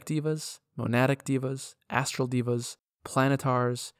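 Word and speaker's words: devas: types of asimon are agathon light asimon m divas monatic divas astral divas planetar and solars and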